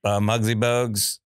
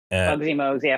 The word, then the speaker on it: Muggsy Bogues: The shortest ever, Muggsy Bogues. Muggsy Mogues, 5'3". Did I just say it wrong? I got the height right. Yeah. No, You he got the called height him right. Bugsy Mogues again.